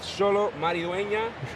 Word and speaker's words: Xolo Maridueña: I am live from Megacon Orlando with Xolo Maridueña.